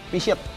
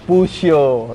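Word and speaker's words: Peugeot: T-shirt. T-shirt. Salah. T-shirt bacanya. No, yang benar ini bro, Pusho. Itu yang benar.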